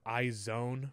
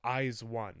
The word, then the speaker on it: IZ*ONE: I've been calling them iZone for a long time. But I think I'm wrong. It's iZone, right? I think that's the correct way to say it.